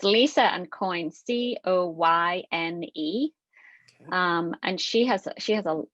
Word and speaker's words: Coyne: Lisa Coyne, her name is spelled a little bit differently than what they might Yes, think. that's a good point. So it's Lisa and Coyne, Coyne.